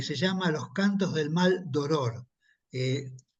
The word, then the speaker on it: Maldoror: mal d oror eh explico que es maldoror y que no lo estoy pronunciando mal no Porque muchos podrían interpretar que yo hubiera querido decir mal dolor pero no eran mal dolor no sé a a